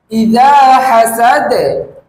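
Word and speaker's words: إِذَا حَسَدَ: দা এভাবে করে 10 বার বলুন এই শব্দের উচ্চারণ হচ্ছে ইদা হাসাদ ইদা হাসাদ এই শব্দের অর্থ হচ্ছে যখন সে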